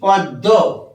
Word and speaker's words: পদ্ম: তো একটু আগে বলেছি পদ্ম পদ্ম ম উচ্চারণ করবো না দ এর সাথে যুক্ত আছে বলে দ কে আমরা দৃত্ত